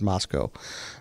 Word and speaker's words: Moscow: Moscow Idaho it's spelled Moscow but it's it's pronounced Moscow um so it's in Moscow Idaho and it